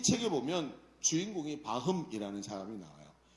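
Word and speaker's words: Пахом: 이 책에 보면 주인공이 바흠이라는 사람이 나와요. 파흠이라고 발음하기도 하는데 러시아 말로 바흠이에요.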